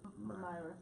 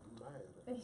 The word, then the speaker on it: Maida: Myra. Myra. Oh, Maida. She said it in Spanish.